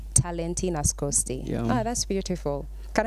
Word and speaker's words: Talenty Nascoty: Talenty Nascoty. Talenty Nascoty.